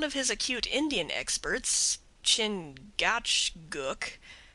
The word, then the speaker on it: Chingachgook: his acute Indian experts chingachgook pronounced Chicago I think has lost